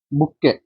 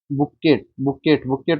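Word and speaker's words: bouquet: बुक्के बुक्केट को ध्यान से देखना, टी साइलेंट है।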